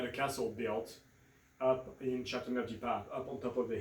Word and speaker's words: Châteauneuf-du-Pape: sometimes people just have a hard time pronouncing. So it's Châteauneuf-du-Pape, There you go.